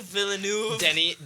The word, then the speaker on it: Villeneuve: the Villa news yeah I didn't realize that's how you say his name but yeah Denny Villeneuve Villeneuve yep that's awful Dennis villanuevo